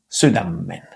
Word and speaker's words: sydämen: Again what we see is sydämen But if you listen to native speakers what you'll hear is much closer to sydämmen with a double m. We have again one consonant in the spelling but two in the pronunciation and this exception in